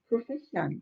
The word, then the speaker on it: profession: profession. 자, profession. fe의 강세를 두시고 pro는 살짝 약하게 발음해 주시면 됩니다.